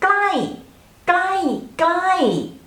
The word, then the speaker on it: ใกล้: far and when we pronounce the word ใกล้ใกล้ it has falling tone so ใกล้ใกล้ใกล้ which means near so